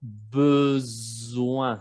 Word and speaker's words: besoin: Y les puse la palabra besoin. Aquí ven que hay una sola S, se pronuncia como Z, y la OIN es como ouin, besoin.